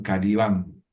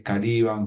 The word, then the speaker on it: Caliban: Porque muchos dicen que, él dice que muchos lo pronunciaban Calibán y que para él es Caliban junto con otros escritores y pensadores, porque viene